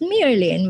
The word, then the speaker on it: Myrlyn: So my first name is now spelled Myrlyn, which is pronounced Myrlyn, which is kind of a tongue twister thing.